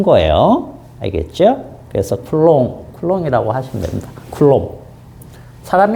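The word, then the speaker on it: Coulomb: 쓴 거예요 알겠죠 그래서 쿨롱 쿨롱이라고 하시면 됩니다 쿨롱 사람 이름 쿨이고 어 이름은 쿨롬 이런 식으로 어 읽습니다 사람 이름은 그 그나라 말로 그대로 합니다 그래서 쿨롱이고 알겠죠 어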